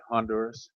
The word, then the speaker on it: Honduras: You can say, pronounce the H and say Honduras.